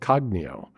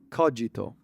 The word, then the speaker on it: cogito: But he's working on something called Cognio, which is a markdown technique. Oh, come on. Say it right, John. You tell me. I know I... It's Latin. It's cogito. Oh, okay. Co-gi-to.